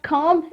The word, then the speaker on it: comb: The spelling of comb is C-O-M-B. But letter B is silent here.